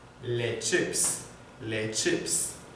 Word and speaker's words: chips: manque un S les chips les chips la prononciation c'est comme en anglais les chips les chips